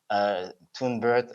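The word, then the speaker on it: TunBERT: And so could you tell us a bit more about Tunebird, your involvement, and what actually Tunebird is? If I pronounce it correctly.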